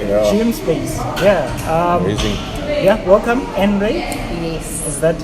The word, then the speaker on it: Anray: Yeah, welcome, Anray. Yes. Is that how you pronounce That's how you pronounce it. Anray? Okay. Anray.